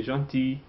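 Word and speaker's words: gentil: Don't pronounce the L. Say janti.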